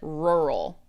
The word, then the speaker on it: rural: All right, this word it's difficult for quite a few native English speakers to say, but it said rural. Rural. It's It's a weird word. Rural. It's got that R rural.